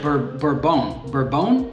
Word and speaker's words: Bourbon: Colombia Finca Las Flores red that word bone bourbon I think you pronounce it natural so it's a